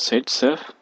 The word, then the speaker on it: Zaitsev: It is pronounced as Zaitsev.